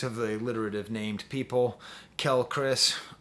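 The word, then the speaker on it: Quelle Chris: Kel Chris, or Quale Chris, I guess is how you're supposed to say his name, has the best production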